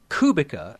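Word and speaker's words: Kubica: the subject of pronunciation I think that kubika has one of those little V symbols above the sea uh little accent that'll be so it should sound like a TS not a k kubitza then so this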